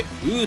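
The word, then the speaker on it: 五: 問う牛でしょう。5 は中国語でウーと読みます。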